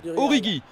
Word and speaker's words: Origi: Je l'ai vu, ouais, bien joué, la passe qui était un petit peu risquée, et donc apparemment, on prononce Origi.